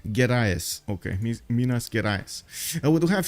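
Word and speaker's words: Gerais: um wait a second Minas gas right it wasn't yeah I was I think I was pronouncing an extra H over there gas okay Minas we do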